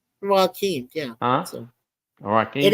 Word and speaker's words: Joachim: Yeah, they spell it Joachim, and it says it is pronounced Joaquin.